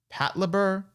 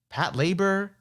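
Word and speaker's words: Patlabor: satu pat luber oh how do you pronounce that this is a title of this is an anime i've always heard of but i've never watched is it pat luber pat labor pat labor all right i don't know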